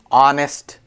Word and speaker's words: honest: t i don't know honest H is silent debt B is silent